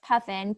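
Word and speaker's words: PUFN: have butchered the name i thought you said puffin yeah so i can link the the group uh but it's puffin p-u-f-n if you google it it should be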